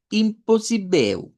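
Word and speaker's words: impossível: Termina en V, pero esa L vamos a pronunciar como U. Entonces vamos a decir imposible.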